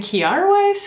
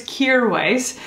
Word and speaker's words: Kjaer Weis: finally learned from their instagram how to actually pronounce it i was saying chiara weiss for a long time so it's kear weiss i have their new cheek colors by requests